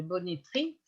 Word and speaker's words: bonneterie: dire le nom ouvert, parce qu'on prononce bonnetterie, hein, et on écrit bonnetterie, comme on écrit pelleterie, graineterie, etc., avec... alors, on devrait prononcer le « est » ouvert.